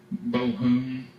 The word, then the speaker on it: Bohun: He sees this guy, Henry de Bohun, that's Bohun, that's the way they pronounced it, and he rides out, and he sees the guy advancing on him.